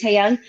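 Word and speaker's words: Taehyung: how you say it, Taeyoung.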